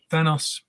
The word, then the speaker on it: Thanos: Thanos. And what about you, Ron? Sir. I asked Jim Starlin this question because I get that all the time. Well, do you get Thanos?